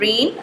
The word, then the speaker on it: reign: इसी तरह से REIGN रेन, रेन कहते हैं किसी की ममलिकत, बादशाहत को, तो इसमें जो है वो G साइलेंट है।